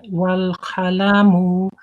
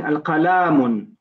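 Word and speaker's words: القلم: Latifa, you're still saying al-qalamun. You're pronouncing an alif in qalamun. It's wal-qalamu, wal-qalamu, and also the pronunciation of the letter qaf. It's more like wa khalamun. It's like you're saying kha, wa khalamu.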